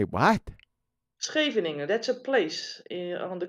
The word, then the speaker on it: Scheveningen: The SH, or the CH, is pronounced with a G.